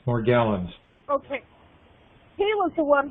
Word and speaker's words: Morgellons: just told me about is it morgellons or magellan more gallons is pronounced more gallons okay he was the